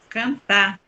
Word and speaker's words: cantar: Quando a palavra termina em R, ela sempre vai ser a sílaba mais forte. Cantar. Cantar. Fazer. Conversar. O R é uma letra forte no final da palavra. Quando ele está assim no final da palavra, ele traz a força para a última sílaba.